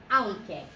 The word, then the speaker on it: aunque: Okay, so aunque. The QU is a K sound.